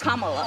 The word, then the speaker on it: Kamala: The way she pronounces her name is Kamala.